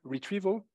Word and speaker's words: retrieval: so this is information retrieval r e this is an I pronounced e and this is a long e if it's on the right so retrieval this is an O so